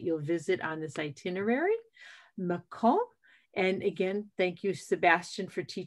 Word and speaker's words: Mâcon: Mâcon, and again, thank you, Sebastian, for teaching me to pronounce it correctly, is home to vineyards and museums and great historical sites and another great walking city.